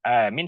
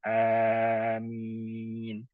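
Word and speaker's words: آمين: Dan amin kita sudah pelajari ada dua versi bacanya. Ada mad ada dengan mad dengan qasrun. Madinya kita panjangkan kedua huruf madnya. A panjang mi panjang. Amin. Atau dengan qasrun, dengan qasar kita baca amin ya.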